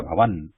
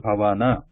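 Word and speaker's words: भवन: Actually, it is a full na there. It is not half na. In English they write like n at the end, so it sounds like Vidya Bhavan. But in the Sanskrit word is Bhavana, Vidya Bhavana.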